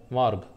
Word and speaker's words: morgue: ऐसे ही एक और होता है मॉर्ग, MORGUE मॉर्ग। मॉर्ग जो है इसमें भी UE लास्ट में साइलेंट है।